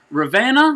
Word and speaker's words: Ravenna: a small group at ravana is that how you pronounce that ravenna community church awesome got it awesome